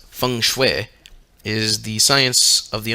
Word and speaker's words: feng shui: Chinese system of geomancy feng shui pronounced Fung Shui is the science of